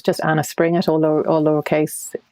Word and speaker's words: Springett: It's just Anna Springett, all lowercase. Springett, for those of you who are curious, is spelled spring as in the season with E-double-T on the end.